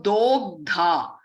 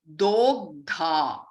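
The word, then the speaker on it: दोग्धा: So Dogdha. The O over here is pronounced as O, Dogdha. Okay, and as you can see that this is a long sound, Dogdha, Gopala Nandanaha.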